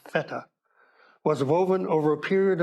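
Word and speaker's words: Fette: rooms feta carpet it's spelled Fe tte but pronounced feta was woven over a period of 20 years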